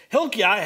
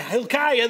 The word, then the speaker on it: Hilkiah: say this guy's name iah is really yah so it's okay anyway forget hebrew hilkiah hilkiah the priest has given